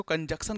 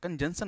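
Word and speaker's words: conjunction: कंजंक्शन होता है जैसे कुछ बच्चे इसको कंजंक्शन कहते हैं गलत कहते हैं कंजंक्शन होता है सी साइलेंट होता है इसको कनेक्टिंग वर्ड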